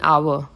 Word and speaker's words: hour: sound uni yo university an hour silent h here starts with vowel sound okay use of the